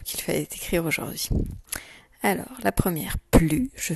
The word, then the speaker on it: aujourd'hui: Voici comment on écrit aujourd'hui. Le son O a U comme dans jaune. Jour, je fais chanter le son D. Et après, je n'oublie pas l'apostrophe et UI avec le H muet.